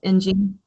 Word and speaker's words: Ng: Ng.